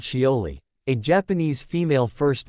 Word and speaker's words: Shioli: the spacecraft touched down near a crater called shioli a Japanese female first name pronounced sholi which sits about 200 m 322 km south